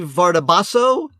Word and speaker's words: Vardabasso: No, you said it right, because I remember she said it's far. If you switch the B and the D, it's far badasso.